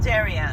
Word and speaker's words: Darien: the northern how does one pronounce Darien I pronounce it Darien Darien yeah Darien yep there he is Connecticut